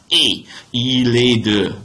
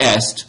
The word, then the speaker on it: est: where she is from careful with your pronunciation of that verb right e right it's not EST that's Latin Okay so asking about